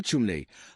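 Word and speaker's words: Cholmondeley: Estaba Neven Montaguante Charles Schmely, pronunciado Chumley, con esa extraña pronunciación de los nombres aristocráticos ingleses.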